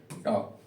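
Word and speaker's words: talk: मिल रहा है के टी ए एल के तो इसको क्या पढ़ना है टॉप क्या पढ़ोगे टॉप प्रोनंसिएशन सुधारने के कुछ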